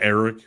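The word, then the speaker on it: Arik: I mean he has Arc Armstead for a threee deal 51 I think that's a good pickup yeah you pronounce that Eric just like Eric it's weird why they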